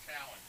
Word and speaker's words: Keown: Now, I've seen that pronounced Keown. I've seen it pronounced Cowan. Just, I think it's Cowan. Yeah.